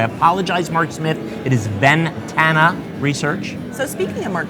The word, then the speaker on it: Ventana: that I wrote down I kept pronouncing Ventana research incorrectly I said bandana and I said it in front of Mark Smith who had the best accolades at kickoff and here I am butchering the name of his organization so